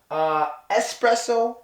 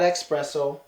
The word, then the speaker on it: espresso: not specific brought not bought Steve you tripping espresso not expresso just not gift holy then